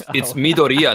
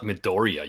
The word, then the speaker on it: Midoriya: I only do it to Animac because he throws like little hissy fits when people mispronounce things. Yeah, how dare you? Oh, for real? It's Midoriya, not Midoriya, you plebs.